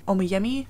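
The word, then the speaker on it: Oyeyemi: reading are white is for witching by helen omiyemi is how you say her name and then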